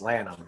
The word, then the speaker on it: Lanham: G Liam Liam Li it looks like Lanham but it's pronounced Lam it's typical English or